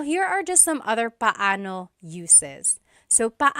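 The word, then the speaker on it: paano: It's technically pano pano when there are two vocab or when there are two vowels together you say them separately.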